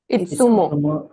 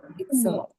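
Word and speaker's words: いつも: So the TSU, you will have to pronounce the T at the start. You don't ignore that.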